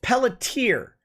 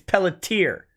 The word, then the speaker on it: Pelletier: 72 mitochondrial disorder uh by the way it's pelletier we're pronouncing it still wrong apparently it's pelletier according to the chat i don't know